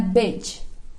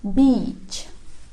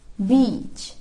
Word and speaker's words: beach: Kebanyakan orang-orang bacanya beach, but it's not that way. Jadi bukan seperti itu. Lebih tepatnya itu pakai i dan logatnya agak panjang. It's like beach, beach.